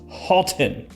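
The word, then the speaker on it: Haltane: to Niche with parfum's Marley's Halton yeah that's the correct way to pronounce it I just decided Alton so this one smells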